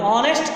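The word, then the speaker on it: honest: हम ऑनेस्ट करें, हॉनेस्ट नहीं कर रहे हैं, ऑनेस्ट कह रहे हैं, तो ऑनेस्ट कहने पर जोर किस पर दे रहे हैं? ऑ पर।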